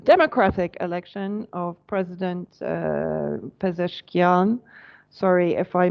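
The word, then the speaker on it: Pezeshkian: the election the democratic election of president uh pesan sorry if I mispronounced that no you pronounced it correctly thank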